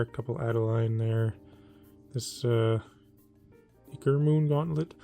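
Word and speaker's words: Ichor: This Iker Moon Gauntlet. Apparently the proper way to pronounce this is Icor, but it just sounds weird. It sounds unnatural to say.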